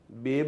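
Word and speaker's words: babe: Next बेब है। बेब में बी की स्ट्रोक आएगी, ए वावल है, सेकंड स्ट्रोक फिर बी की है और ई साइलेंट है।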